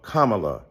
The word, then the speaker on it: Kamala: do you call Ivanka Ivanka then call Kamala Kamala then call vice president Harris vice president Kamala